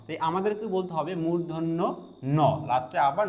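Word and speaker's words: মূর্ধন্য ণ: আমরা সাধারণত এই বর্ণটিকে বলি মধ্যন্য বলি। যেটা সম্পূর্ণ ভুল। এটাকে বলতে হবে মূধন্য ন। দেখেন মূর্ধন্য বলার পরে কিন্তু আবারো ন সাউন্ডটা করতেই হবে।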